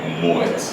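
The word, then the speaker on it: Moët: Tyrone today is powered by Moet.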